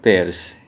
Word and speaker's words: Peirce: Biasanya diucapkannya Peirce, tapi dalam Chandler bilang diucapkannya Peirce.